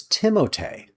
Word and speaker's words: Timothée: Did you know everybody pronounces Timothée Chalamet's name wrong? It's Timothée.